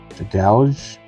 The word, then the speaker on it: Dragalge: So I am still looking for the Frogadier, the Ampharos of the IRs, and looking for the full art of the Mega Dragalge.